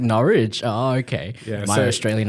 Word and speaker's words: Norwich: just heard is I I think I pronounced the school name wrong this whole time I was like Norwick I was like norch oh okay my Australian